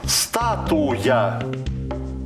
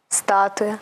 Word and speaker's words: статуя: Слово «статуя» правильно произносится с ударением. А. На первом слоге. Б. На втором слоге. С. На третьем слоге. Ну, да. На первом слоге. А как правильно? Статуя.